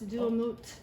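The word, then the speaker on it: Duamutef: So the name of that god is Duamut, I believe. He's a falcon-headed god that is one of Horus's kids. And so you don't pronounce the F, so it's Duamut.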